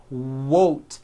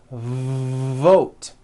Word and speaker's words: vote: The word is not wote, it's vote.